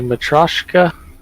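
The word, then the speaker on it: Matryoshka: Are they Matroska?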